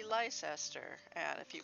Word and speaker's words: Leicester: I mean, for instance, Leicester should not be pronounced Leicester, it should be Leicester.